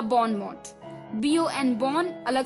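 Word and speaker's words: bon mot: तो बॉनमो अलग अलग 2 वर्ड हैं, BON बॉन, MOT मोट, बॉन मोट या बॉनमो।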